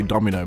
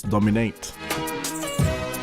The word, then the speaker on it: Domin 8: Always say Domino, but it's Dominate.